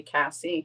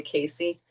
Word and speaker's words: Casey: I'm really big on pronunciating names the correct way because people always call me Cassie and it's actually Casey.